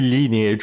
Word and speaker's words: Lineage: Yeah, I also pronounce it as Lion Age. It's because the Romanian pronunciation for the game was basically that. So, everyone pronounced it linage. So, I did as well. I know it's supposed to be lineage or something like that.